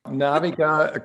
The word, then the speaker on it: Naviga: a 20 year old sales recruiting company called naviga did i pronounce this right naviga it's okay naviga comes from navigation and you help companies navigate